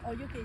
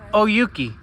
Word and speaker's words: O'Youki: Oh, Yuki, say hi. Oyuki.